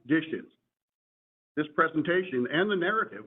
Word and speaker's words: DHSES: I am with the New York State Division of Homeland Security and Emergency Services, or more commonly referred to by the acronym DHSES, pronounced DISHES.